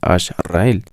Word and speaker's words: Ash-Rael: Ecuador eso podríamos decir la razón por la cual se pronuncia Hash rael y no Hash rael es porque decidimos usar una pronunciación un poco al Castellano la H es muda en en el Castellano por lo tanto no se lee hasra sino ashra y añadiendo la palabra el Entonces sería Ash rael añadiendo un guion pues